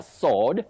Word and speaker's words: sword: But for the weapon it's a sword with a silent w.